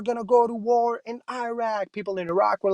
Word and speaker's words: Iraq: the wrong things like president bush used to say iraq there's no such thing as iraq it's pronounced iraq i'm pretty sure when he was like we're gonna go to war in iraq people in iraq were